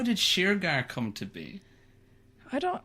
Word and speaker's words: Shergar: oh yeah i know irish irish people who call it sugar you know it's just sugar oh man you know i thought maybe sheer girl i'm just trying to think of other ways to say it wrong the sheer gear of it so how did sheargar